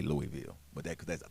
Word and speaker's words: Louisville: we out here in Louisville Lou how you say it Louisville Louisville Louisville depend man if you from Louisville you know I think it's Louisville right but if I'm out